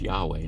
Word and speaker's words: Yahweh: uh the name of God which we would pronounce Yahweh now uh in this scripture and it's a